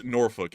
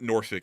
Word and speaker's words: Norfolk: I can't do the L so it is norfol it's not Nori I I don't know where Nori's coming from